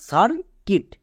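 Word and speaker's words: circuit: তাহলে পুরোটা কি দাঁড়ালো সার কিট, সার কিট।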